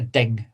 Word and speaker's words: DNG: I've got a copy as a DNG, okay, or as a lot of people pronounce it, it's just a DING file, DNG file.